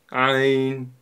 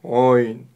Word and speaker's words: ع: исходит от середины горла Ань а Попробуйте повторить Ань также буква айн относится к мягким буквам и не стоит её произносить твёрдо ойн мы её произносим мягко ай ай